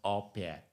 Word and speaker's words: au pair: I understand it's called opair so that but as far as I'm concerned the spelling is au space p a i r but I learned today that is pronounced or pair so so that is